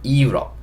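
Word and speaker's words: Europe: 유럽보다는 이유럽 이렇게 읽어주시면 됩니다. 그래서 요거는 요거 힘드시면 그냥 유럽이라고 해도 크게 상관없습니다. 예, 우리가 읽는 것처럼 유럽이라고 해도 크게 상관없어요. 근데 조금 발음을 영어 발음에 가깝게 하고 싶다 그러면 약간 앞에 이 소리만 달아주시면 돼요.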